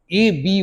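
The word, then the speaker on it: abyss: disconnected word number 369 ए बी वाई एस एस ए बी वाई एसस का pronunciation होता है एबी य silent होता है ए बी वाई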